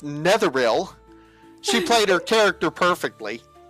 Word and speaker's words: Netheril: I didn't say My Hey, I said Neil. And she goes, "No, it's Netheril."